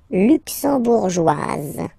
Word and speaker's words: luxembourgeoise: Le Luxembourg, luxembourgeois, luxembourgeois, and then feminine form, luxembourgeoise. Okay? Same thing here, only difference, joie, joie. Joise, z, z, okay, you insist on it.